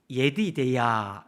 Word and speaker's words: 여디디야: 여디디야, 이게 히브리어 원래 발음으로 하면 예디데야 이런 말인데 여호와의 가장 사랑하는 자 이런 뜻이에요.